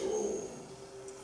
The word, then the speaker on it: Om: Let us now repeat the holiest of the word, the symbol of God, the Pranava, which is pronounced as Om.